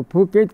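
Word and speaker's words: Phuket: तो फुकेत क्या है, ये भू क्षेत्र, वहाँ भ को फ की तरह से उच्चारण करते हैं।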